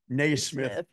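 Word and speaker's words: Naismith: n Smith Drive and it is very definitely pronounced nay Smith there Y and it might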